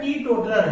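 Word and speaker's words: teetotaler: इसको सही जो उच्चारण है बच्चों, सही उच्चारण क्या है? टी टोटलर है। टी टोटलर ये सही प्रोनाउंसिएशन है, सही उच्चारण इसका यही है।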